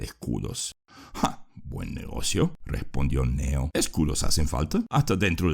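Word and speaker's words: Cneo: Y para ustedes, mis queridos oyentes, recuerden que Neo se escribe C-N-E-O.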